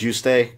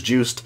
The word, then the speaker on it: Juste: in my timeline video I said you stay and I've heard it announced that way but I've had a couple people tell me it's juste so for the purpose of